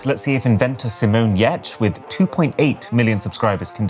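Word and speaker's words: Giertz: surname and pronouncing it Geertz that when it came to starting her own company, she decided to name it after the very literal way that you should pronounce that surname.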